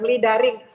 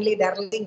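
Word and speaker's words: luring: Itu tadi mungkin ya dibilang lidaring. Bacanya yang benar ya, jangan lidarling ya.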